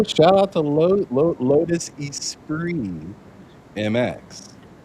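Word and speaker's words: Esprit: I always thought it was weird that they pronounced it espree. Espree. Oh, yeah. You're talking about Yeah. Yeah. Yeah. It looks like it says Espirit, but it's Yeah.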